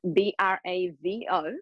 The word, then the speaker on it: Bravo: V okay now go slow Now spell it out for everybody Sandra bra which is b r a v o like clapping Bravo that's my last name Sandra bravo.